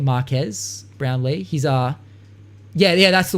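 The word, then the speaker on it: Marques: Like I have to we're talking about Marcus Brownlee. I think that's how you say his name, Marquez Brownlee.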